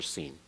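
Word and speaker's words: sin: No TS sound for seen. It's just like Samic, identical sound.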